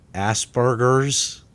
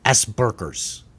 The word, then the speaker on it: Asperger's: I believe it is pronounced Asperger's. Well, let's pronounce it. I mean, where was the guy or the gal that sat there and go, Asperger's sounds horrible because it sounds like ass and burgers?